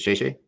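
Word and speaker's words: 谢谢: from my time in Asia in Mandarin is "xie xie." Is that how you say thank you? Is it "xie xie"? Yeah, that's right. You got it right. How do you pronounce?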